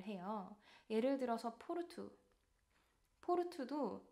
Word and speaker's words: Porto: 예를 들어서 포르투 포르투도 끝에 오가 오기 때문에 포르토가 아닌 포르투로 발음을 하고 있습니다.